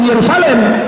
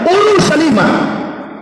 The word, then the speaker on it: Urushalima: Nah makanya bahasa yang betul bukan Yerusalem, Urushalima, sama dengan bahasa Arab.